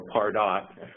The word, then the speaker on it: Pardot: answer the million-dollar question, is it pronounced Pardot or Pardot? And, you know, fun fact, it's Pardot, and it actually is a Latvian word, the real word, that is Latvian for to market or to sell.